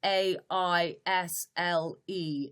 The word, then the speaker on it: aisle: A-I-S-L-E is pronounced aisle or L.